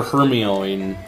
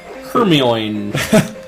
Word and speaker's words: Hermione: Potter books oh yeah I called her Hermione yeah that's Hermione it's Hermione that's not it like that